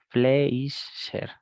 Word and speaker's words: Fleischer: Se pronuncia Kaiser Fletcher, ¿no? Kaiser con K. Fleischer.